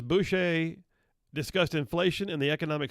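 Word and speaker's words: Boushey: economic adviser heather heather boucher i had to pronounce it bushy boucher said that president biden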